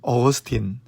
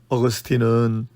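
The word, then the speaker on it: Augustine: 기독교 최대의 신학자라고 일컬어지는 어거스틴, 영어로 어거스틴이고요. 헬라어로는 아우구스티노스, 라틴어로는 아우구스티누스라고 읽습니다.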